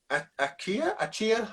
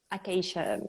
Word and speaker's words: acacia: I think this is Achaia, however you pronounce it. Acacia.